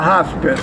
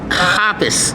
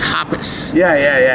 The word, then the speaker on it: HOPICS: police department or the hospice? - Hospice. - But it's not, it's HOP- - HOPICS. - Yeah, yeah, yeah. - It's pronounced HOPICS.